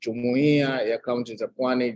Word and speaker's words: Jumuiya Kaunti Pwani: That's how it's pronounced, Jumuiya Kaunti Pwani.